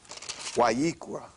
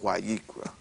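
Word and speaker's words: ויקרא: Wayikra is the correct pronunciation of what they call Leviticus. That's right. It's called Wayikra.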